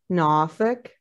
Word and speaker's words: Norfolk: In the old Tidewater accent, it's Norfolk. They don't pronounce R's, the non-rhotic accent.